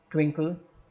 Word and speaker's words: twinkle: Twinkle, as we know, the first syllable gets a stress.